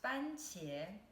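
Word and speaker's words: 番茄: fancier tomato fried egg the first two characters are pronounced fancier is first tone and then second tone and what fancy means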